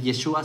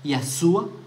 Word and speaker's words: Yeshua: El hecho de que él no sepa decir el nombre de su propio Mesías, que él no sepa decir Yeshua, sino que diga Yahshua sin la letra Shin.